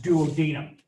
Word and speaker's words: duodenum: Where that takes place is in the duodenum, sometimes pronounced duodenum.